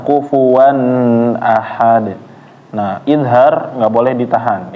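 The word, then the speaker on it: كُفُوًا أَحَد: Kufuwan jangan ditahan. N-nya ya atau tanwinnya di sini ketemu a, jangan ditahan. Kufuwan ahad.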